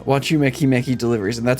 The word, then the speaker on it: Wachumeqimeqi: crafting is the name if you pronounce it a bit differently is watch you makey makey.